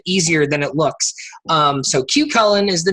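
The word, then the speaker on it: Cú Chulainn: point is and we found out the correct pronunciation because we asked is the big gravity group wooden coaster cue Cullen we've said choo choo lanes for quite some time on this show and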